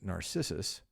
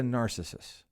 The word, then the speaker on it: Narcissus: go back a second, because Narcissus, that amazingly vain, self-interested figure in Greek mythology, deserves proper pronunciation. I'll go again. Why, my dear Basil, he is a narcissist. I keep wanting, you know what it is? I keep wanting to say he's a narcissist.